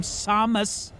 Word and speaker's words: Samus: You're you're a you're an upscale patrician bounty hunter, hence the pronunciation of your name, Samus.